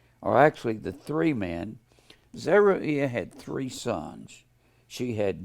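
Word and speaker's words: Zeruiah: were zeruia and abigail z e r u i a h you can pronounce it zeru ayah if you want to i'll just call him zeruia zeraia and abigail abigail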